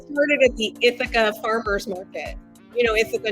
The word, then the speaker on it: Ithaca: Kirby's tagline itha humus I was pronouncing it ithaka for a year before I realized it's itha not aaka itha that that's that's a giveaway I'm not from the East Coast Right started at the